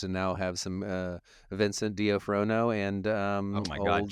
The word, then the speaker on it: D'Onofrio: You know, it's both those characters, and now have some Vincent D'Onofrio and oh my God, old, Jason.